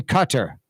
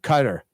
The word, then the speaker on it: Qatar: Destroyer who is in Cutter who's in Qatar cutter Qatar I guess is how you pronounce it everybody says cutter Qatar she's in Qatar